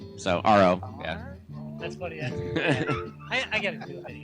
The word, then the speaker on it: AHRO: always say it right it's just like the letter r the letter O So r o yeah that's funny I